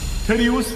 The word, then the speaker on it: Terius: His name rhymes with Aquarius. It's kind of hilarious. Terius for you. It also rhymes with Sagittarius, Tasteless.